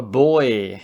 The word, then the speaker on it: buoy: And it is really confusing because do you know the way Americans say buoy, like the boat buoy? Yeah, the pronunciation's very different.